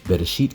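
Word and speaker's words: בראשית: Bereshit contains 3 syllables, Be, Resh, It.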